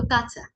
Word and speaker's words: কাঁচা: প্রথম শব্দটি হলো কাঁচা। কাঁচা মানে কি? আমরা কাপড় কাচি না, কাপড় পরিষ্কার করি, কাপড় ধুই, সেই কাপড় কাঁচা। স্বাভাবিকভাবে উচ্চারণ হবে কাঁচা।